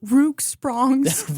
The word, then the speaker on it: Rock Springs: His goal was to one day not how you pronounce it. Which one? Which one? It's Rook Sprongs.